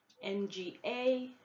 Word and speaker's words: nga: So NG will have ng sound, ng. So if it's NGA is pronounced nga, which means if, and if there's an apostrophe after the G, then the sound changes into a softer G sound as you find it in morning.